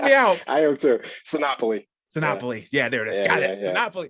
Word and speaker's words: Sinopoli: out I am too sinopoly Monopoly yeah there it is oh like Monopoly yeah exactly yeah exactly